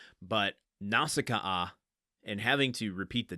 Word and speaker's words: Nausicaa: all-time favorite movies and the Japanese original language pronounces it Naushikaa, which is how it's been ingrained in my head. Which almost sounds Russian. But Nausicaa and having to repeat